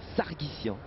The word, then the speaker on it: Sargsian: fait pas du tout ça se prononce comme ça c'est Sargis sargissian l'arménien on va dire ça